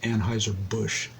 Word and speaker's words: Anheuser-Busch: He pronounced it Anheuser-Busch, which is the name of the company now.